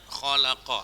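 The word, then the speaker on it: خَلَقَ: buat kata holakol misalnya kholaqo hai hai hai hai yo yo Hai nah ini bacanya kholaqo atau misalnya Hai apa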